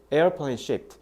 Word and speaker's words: shaped: 그래서 이거 듣기에 진짜 많이 나오는데 니네 저거 듣기 잘 들어보면 airplane shape 이렇게 shape로만 들리는데 잘 들어보면 airplane shaped 뒤에 t 이렇게 ed 발음을 살짝 내, 살짝.